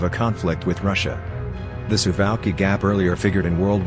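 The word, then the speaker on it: Suwałki: Poland and Lithuania called the Tsubaki gap pronounced sieve alkie the gaps to highways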